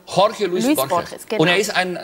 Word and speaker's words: Jorge Luis Borges: Wie spricht man Jorge Luis Borges aus? Genauso, wie Sie gesagt haben. Jorge Luis Borges.